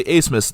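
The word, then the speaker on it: Abmas: a smith now again i say a smith despite the fact that his last name is spelled a b m a s but max a smith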